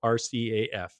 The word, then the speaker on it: RCAF: days through through today so rcaf is the only way it's ever ever pronounced all right that was